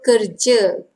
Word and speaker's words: kerja: So kerja, actually kerja. But sometimes some people remove that R word and they just say kerja. Or maybe they have very soft R pronunciation. Kerja, kerja. That's R but very soft. Or they eliminate it.